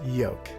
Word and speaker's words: yolk: talking about the egg thing the egg is pronounced yoke yoke no it's yoke not according to the